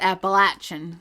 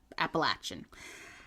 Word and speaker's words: Appalachian: I said Appalachian.